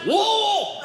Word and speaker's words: Louisville: I had 400 people immediately, "it's pronounced Louisville.